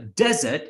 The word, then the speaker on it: desert: So remember, desert is the Sahara Desert, like a dry land with a lot of sand. That's pronounced as desert, D-E-S-E-R-T.